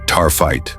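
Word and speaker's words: taaffeite: Tafetto, pronounced tarfite.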